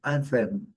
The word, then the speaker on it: anthem: Porque o hino de país, o hino de clubes é anthem, anthem, anthem. Aqui o TH, como eu falei, com outro som, anthem, a primeira sílaba forte.